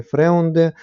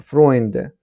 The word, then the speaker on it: Freunde: так і зверніть увагу тут читається не фреунде А фронде тобто друзі завдання а Тобто нам